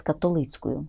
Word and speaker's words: католицькою: з католицькою молоддю Московією зверніть увагу зустріч з католицькою такий літературний наголос зустріч з католицькою молоддю